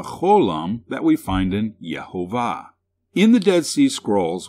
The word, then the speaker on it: Jehovah: genesis 3 14 where it is written with these vowels which provide the pronunciation jehovah this vowel pointing provides the e vowel this one the ah vowel and this dot which is called the holam represents the o sound in the dead sea